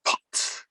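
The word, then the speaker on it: phaṭ: It goes, it's spelled P-H-A-T. And it goes, like that. And I want you to explode that visualization with the mantra, pot, like that.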